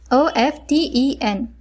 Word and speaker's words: often: This word is mispronounced by the beginners as there is T present in the word. The spelling is O-F-T-E-N, but the pronunciation is often.